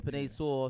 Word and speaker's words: Penei Sewell: I do have I think the Bengals is going to go with how you pronounce his name? The lineman, Kalua. Penny. Sewell. Yeah, Penei Sewell.